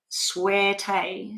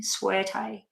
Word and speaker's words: Suerte: they want to um your name is pronounced as suerte suerte but thanks for trying okay okay so